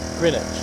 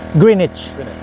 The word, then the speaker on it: Greenwich: And may I ask you what is the right pronunciation of this park? This park? Yeah. Greenage. Greenich. Thank you.